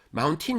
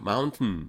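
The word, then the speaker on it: mountain: 높은 산은 마운튼이고요. 마운틴 그러지 마세요. 마운튼 이렇게 발음하셔야 됩니다.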